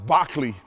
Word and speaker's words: Berkeley: We're going to dive right into George Barkley. You may see that uh his name looks like Berkeley, but if you know who if you've studied uh Berkeley before, you'd know that his name is pronounced Bachley.